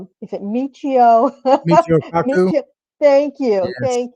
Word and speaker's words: Michio Kaku: Michio Kaku.